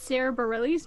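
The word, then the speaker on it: Sara Bareilles: that is correct and by the way it's sarah bareilles not whatever you butchered her name was whatever her name was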